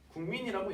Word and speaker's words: 국민: 그럼 미음의 영향을 받아서 실제 우리 발음이 어떻게 된다 그랬습니까? 국민이라고 얘기를 한다는 거죠.